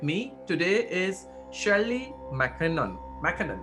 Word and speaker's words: McKinnon: experience and with me today is shelley mckinnon mckinnon right that's how i pronounce it yes that's correct thank you shirley